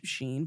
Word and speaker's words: SHEIN: there was somebody first Wait, that Sheen, really like did it. Charlie Sheen? No. Well, I mean, it's pronounced Sheen, but it's not like spelled Sheen.